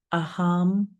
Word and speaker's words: aham: This mantra is aam prema. I'll spell it and then tell you its meaning.